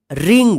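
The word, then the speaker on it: wring: silent रहेगा ठीक है रिंग देखिए आर से पहले डब्लू है या डब्लू के बाद आर है ठीक है तो डब्लू जो है ना साइलेंट रहेगा डब्लू आर आई एन जी रिंग रिंग का मतलब होता है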